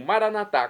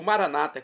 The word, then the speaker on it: Maranata: Agora eu clamo Maranatá, como dizemos nós católicos, ou Maranata, como dizem nossos irmãos separados, os irmãos das comunidades evangélicas ou protestantes. Não importa a pronúncia, o significado é o mesmo.